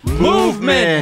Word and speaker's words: MVMT: thank you Pete that's true thank you Pete movement hey what time is it mvmt time bab time baby it's pronounced look you guys you got no I